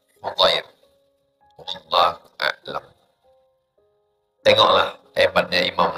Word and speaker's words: Hudair: Dari hadir. Salah. Hudair.